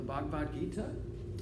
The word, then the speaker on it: Bhagavad Gita: go in and read some passages from the Bhagavad Gita that talk more about province we can have